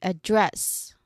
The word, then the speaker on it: address: So here the second syllable is stress. So we stressed that no we say address.